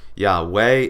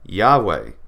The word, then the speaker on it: Yahweh: we have the whoa so depending on how you want to do it yeah way or yeah they yeah way yeah they so right here you have your Hebrew word here in Isaiah chapter 42 verse 13 it's not a deny it's Yahweh it's yaver however you want to pronounce it Yahweh so the